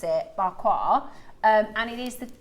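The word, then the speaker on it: Pa Kua: It means but you pronounce it bqua.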